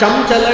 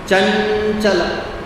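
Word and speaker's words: चञ्चल: Therefore ka kha ga gha Therefore when you say ganga it is not gamga it is not ganaga it is ganga It is not chamchala it is chanchala.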